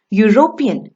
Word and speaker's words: European: do union and unicorn european begins with the vowel e but does not produce the a sound it produces the u sound two when we say